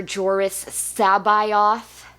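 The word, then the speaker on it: Jorus C'baoth: the Republic Jedi Master joris sabayoth which it's not a pronunciation I would have guessed looking at that name but that's how Zod says it so okay talks to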